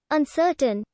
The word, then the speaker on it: uncertain: an iambic pentameter line uncertain in tne second line is accented on tne final syllable the verbal ink ending